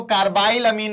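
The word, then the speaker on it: carbylamine: सारी name reaction है carb अमीन reaction कुछ लोग उसको कार्बाइन अमीन रिएक्शन कहते हैं लेकिन कार्ब अमीन रिएक्शन आप बोल सकते हैं ठीक है स्पेलिंग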